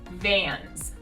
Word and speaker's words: Vans: the first one is vans so practice that v sound vans vans we also have that ah ad that's difficult for a lot of people vans second brand eddie bauer